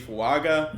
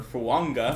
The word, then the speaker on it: Fuaga: I think Talizi Fuaga, or Fuanga, as I recently found out how it's pronounced, is the perfect pick here.